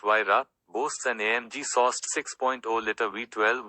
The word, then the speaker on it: Huayra: Named after the Incan god of winds, the Huayra, pronounced Huayra, boasts an AMG-sourced 6.0-liter V12 with 2 turbochargers, resulting in 620 horsepower and a massive 740 pound-feet.